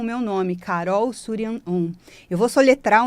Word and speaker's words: Shuryan Om: É S-H-U, Su, R-Y-A-N, Surian, Om, do mantra Om, O-M, porque sim, todos nós precisamos mantrar para elevarmos nossa vibração e criarmos prosperidade.